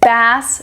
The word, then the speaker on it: bass: one we have is bass versus BAS they are spelled the same but they sound different and mean different things the